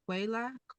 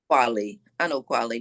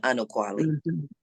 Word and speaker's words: Anokwale: And, and as I shared, it wasn't clear that this is the Quele. Is that how you pronounce it? Anokwale, but you can call me just, but Anokwale.